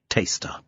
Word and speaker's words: Torcester: Taster, it should be emphasised at this point, despite being spelt Torcester, is pronounced Taster.